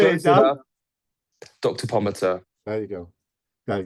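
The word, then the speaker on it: Pomatter: Pottimer. I've said it right, haven't I? Pomater? No, Pomater. Damn, Close I enough. knew I'd get it wrong. How do you say it, Close Dan? enough. Dr. Pomater.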